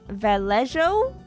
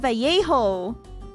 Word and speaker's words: Vallejo: The double L is a Y. Oh, Vallejo.